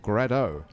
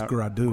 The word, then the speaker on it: gradeaux: What the hell is grado? It's gradu. Gradu. It's like mildew, but it's a little extra, gradu. Little lanyap with the mildew. Okay, so it's spelled Gradeaux, but that's pronounced gradu. Gradu.